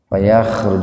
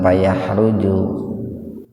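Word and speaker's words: فيخرج: Wa inna gunnah minha, min idhar khalqi, ha matobi alif, lama matobi alif, yasakkoku payakhruju dipakai kho itu ya, jangan pakai ha, jangan payahruju.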